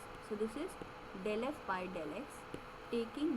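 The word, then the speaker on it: ∂f/∂x: So this is partial derivative of f with respect to variable x, and this is pronounced as del f by del x.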